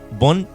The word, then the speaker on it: von: Hellenbach von Paxolay. Fon, porque sería alemán.